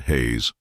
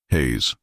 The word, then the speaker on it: Hayes: Daniel Jacob Hayes, not Hayes. Hayes.